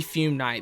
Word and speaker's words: Fume Knight: Number 18 is the fume knight. There we go. I finally said it right.